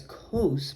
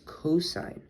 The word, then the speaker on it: cosine: then for cosine you might read it as cos but it's actually it is actually pronounced as cosine cosine like this and then tangent you would